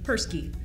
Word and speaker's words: Perske: pronounced Paris gun however in North America is commonly pronounced Persky and that's okay either way the Paris